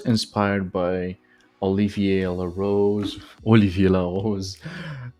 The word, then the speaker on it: Olivia La Rose: by Olivia La Rose Olivia La Rose in the French pronunciation from YouTube and he